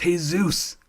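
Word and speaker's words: Jesús: Jesus and I go my name is pronounced hey-zeus usually gets a laugh people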